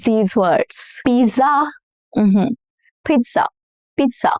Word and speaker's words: pizza: Pizza. Double Z in Italian is pronounced as T sound. Okay, it has a little T sound, not Z. Pizza.